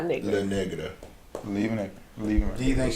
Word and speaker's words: La Negra: La Negra. La Negra. Like it's like. Is it spelled like Negra? Negra. Yeah, that's Negra.